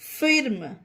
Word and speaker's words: firm: फिर्म, FIRM फिर्म, फिर्म पढ़ना गलत होगा इसे गाइस, इसे फिर्म नहीं, इसे फर्म पढ़ेंगे, इसमें आई का उच्चारण आ होगा। क्यों होगा? रूल क्या था हमारा कि जब किसी वर्ड में आई के बाद आर रहता है तब आई का उच्चारण आ किया जाता है, इसीलिए इसे फर्म बोलेंगे।